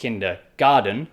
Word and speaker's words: kindergarten: so we pronounce it kinder garden so you might think oh it's spelt the same as garden as in outside your house but actually it's spelled